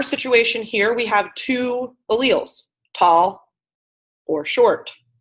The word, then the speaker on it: allele: they representing people up yes Marissa nailed it alleles they represent alleles right that's how you say